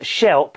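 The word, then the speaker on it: shlep: She said the word is shelp, pronounced shelp or slelp, with sh sound at the beginning.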